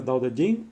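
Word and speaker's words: Tao Te Ching: clásico eh libro clásico ta King se pronuncia da de jin eh vamos con mi mala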